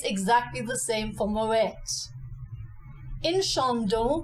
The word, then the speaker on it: Moët & Chandon: exactly the same for Moet in shond we have two nasalized vows the a n and the o n this is very easy